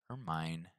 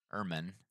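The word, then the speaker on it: ermine: right let's go forward or mine let's make sure we're pronouncing this right herman so herman sorry herman meaning a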